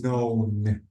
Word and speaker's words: known: one is uh the the key is silent so knowing it's known known known okay not